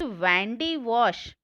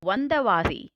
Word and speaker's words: Vandavasi: Since the Britishers could not pronounce the word Vandavasi, so they started to pronounce it as Vandewash. Okay, so Vandavasi and Vandewash are one and the same.